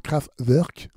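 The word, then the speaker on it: Kraftwerk: pas c'est le groupe craft work craftwork aussi il y en a qui préfèrent le prononcer comme ça tiré de l'album computer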